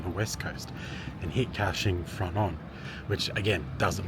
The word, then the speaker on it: Kaohsiung: I realized I've been saying the town name wrong until I was on the train before and I was actually listening to how it's said, so it's Kaohsiung.